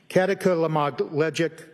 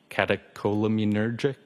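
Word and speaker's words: catecholaminergic: Um, kataka lamogleic tacocardia. I probably butchered that up. Does that ring a bell? Uh, katakolamunergic. Thank you.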